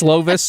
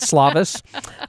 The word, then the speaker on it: Slovis: to pronounce Ken slovis it's slovis not slavis uh other things uh